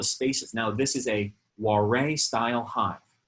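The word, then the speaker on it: Warré: Now this is a Warre style hive. That's W-A-R-R-E with like a little accento over the E.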